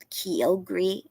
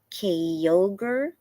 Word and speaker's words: Kyogre: Tina, how did I tell me again how you say the Kyogre? I have a hard time remembering how to pronounce it. You told me before, and I always want to say it wrong. Kyogre?